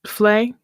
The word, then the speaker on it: vlei: Wetland so that's why this word can be pronounced fle that's exactly why Emily and in South African English they they do pronounce it fle sure uh more often than not but you